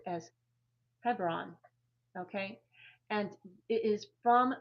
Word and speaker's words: Hebron: In most Bibles it's it's um pronounced as Hebron.